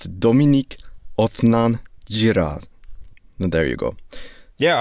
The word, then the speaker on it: Dominique Othenin-Girard: gave me an audio recording of how to pronounce the goddamn director's name. So it's Dominique Othenin-Girard.